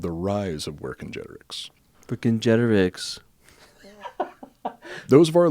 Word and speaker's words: Vercingetorix: were told by gigi the c's are a hard c sound they didn't use a soft c so it's where congenerics so without further further